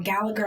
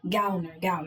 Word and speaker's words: Gallner: The one that plays Joel, his name is Kyle Gallner. Or Gallagher. I'm trying not to mispronounce his name. I think it's, you said it right. Gallner, that's his name, yeah.